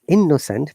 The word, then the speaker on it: innocent: So, according to this rule, we should pronounce only one, and other should be just ignored. So it is not innocent. People say, "Oh, I'm innocent." No, it's innocent, Innocent.